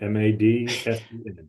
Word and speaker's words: Madsen: It was a remarkably simple name that everybody manages to mess up. M-A-D-S-E-N, Madsen.